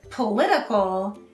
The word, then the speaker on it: political: s at the end second politics and politician have the stress on the first syllable and political has the stress on the second syllable politics politics politics politics